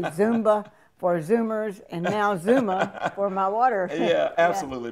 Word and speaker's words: Xooma: So how do you pronounce that? Zuma. Zuma.